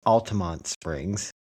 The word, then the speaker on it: Altamonte Springs: don't know they they as if the E isn't silent.